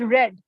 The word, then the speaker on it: read: In the past tense, actually, when the pronunciation of read goes read, like I have read this book, not read. So you have to use the pronunciation as read, even the spelling will be same.